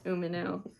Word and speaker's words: Umino: Did I say it wrong? Umino. I'm reading phonetically. I know.